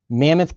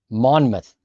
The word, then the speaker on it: Monmouth: Mammoth County, New Jersey. Okay, I got you. I got you. Mammoth County, New Jersey. How did you spell that? Oh, Monmouth, not Mammoth.